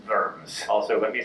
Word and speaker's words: Worms: the Imperial Diet of Worms, or in German, Worms.